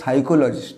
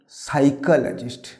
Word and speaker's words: psychologist: এর সঠিক উচ্চারণ হবে সাইকোলজিস্ট না, উচ্চারণ হবে সাইকোলজিস্ট।